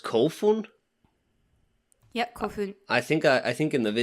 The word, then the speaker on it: Kofun: it's pronounced really a long time ago it's pronounced kofun yep coffee i think i i think in the video i called it coffin or something like that you did call genitro